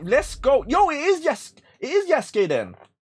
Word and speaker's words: Yasuke: Yo, it is Yasuke then. Now, how do you say her name? It is Yasuke, right? Or is it Yasuke? It's Yasuke. Yo, does that mean some gameplay?